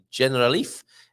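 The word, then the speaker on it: Generalife: the alhambra's Magnificent grounds which also include the general Leaf is how you pronounce that the triangle summer Resort of the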